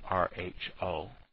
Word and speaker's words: rho: start with the alternative hypothesis and that's that row that is rho looks like a p but it's really the greek letter for r and it's spelt r h o but and pronounced rho even though it looks